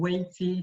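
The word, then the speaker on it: 危机: However, though, there's a Chinese saying called "wei ji," that's pronounced "wei ji."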